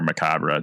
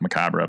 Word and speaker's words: Macabre: Yeah, I run the YouTube channel Macab Storytelling or Macabre, doesn't When I first started I thought it was pronounced Macabre, but I guess it is pronounced Macab, so kind of already